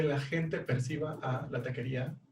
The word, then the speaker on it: taquería: O la misma marca, la taquería dicen tacuería, o sea, tacuería, o sea, no jala.